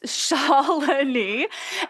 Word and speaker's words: Shalani: So, my name is Shalin. It's Shalani. And you know what though? You could just call me Shaw and that's totally cool.